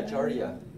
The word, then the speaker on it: Giardia: Yeah, giardia.